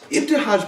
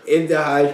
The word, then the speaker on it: Ibtihaj: it my man so uh how do you pronounce that young lady's name ifaj Muhammad ifaj mhamed is the first US Olympian to compete